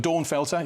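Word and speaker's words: Dornfelder: is a great called Dawn Felder which I I I say it as if it's a lady's name I think I'm sure if it was German pronunciation it felter da felter but Dawn felter she feels Ribble Bridge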